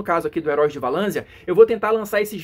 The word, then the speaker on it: Valansia: próprio livro diz que a pronúncia correta é valan com z tá então provavelmente eu